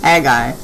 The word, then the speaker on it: Haggai: And let's check how we pronounce Haggai. Haggai. Oh, it's just Haggai. I've always heard of Haggai.